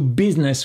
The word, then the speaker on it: business: quelqu'un 2 business with attention à la prononciation n'entend pas le i do business rêve de business quoi